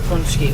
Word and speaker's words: pączki: That's because nobody can pronounce punchki.